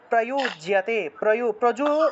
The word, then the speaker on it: প্রয়ুজ্যতে: তিয় উচ্চারণ সদিত্যে তৎ প্রয়ুজ্যতে প্রজুর উচ্চারণ হবে প্রয়ু, ঠিক আছে, প্রয়ু জ আছে, জ থাকলে ইয় উচ্চারণ প্রয়ুজ্যতে।